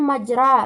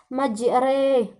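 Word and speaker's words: مجراها: Di sini kita baca bukan majra melainkan majre, karena dia merupakan hukum imalah, yaitu di sini terdapat ra berbaris fathah, tetapi pada saat kita membacanya kita baca seperti seolah-olah dia berhuruf seolah-olah memiringkannya, membawanya ke huruf kasrah, yakni Bismillahirrahmanirrahim.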